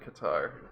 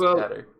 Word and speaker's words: Qatar: Badger said it was Qatar. No, well, in Arabic you say Qatar. That's how he actually pronounces it. Okay. It's double emphasis on the T, so it's like double T, but you only write it one.